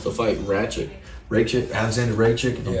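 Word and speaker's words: Rakić: uh he wants to fight ratchet rachel alexander ray chick you're pronouncing that right yeah yuri uh anthony smith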